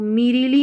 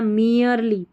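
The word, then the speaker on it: merely: Will depend depend not मियरली बोलना है इसको मेरीली नहीं बोलना मियरली एम ई आर ई एल वाई एल वाई आई को ली पढ़ते हैं। ठीक है? इ आर ई को ईयर पढ़ते हैं। तो मियरली हो गया।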